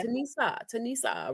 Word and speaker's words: Tanisha: The H is silent. So it's like yeah, Tanisa, right?